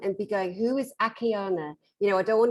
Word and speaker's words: Akiane: And her name is spelled Akiane. It looks like Akiane. It's Akiana.